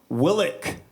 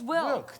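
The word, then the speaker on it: Wilck: Willick. No, it's Wilk. There's no extra I in there.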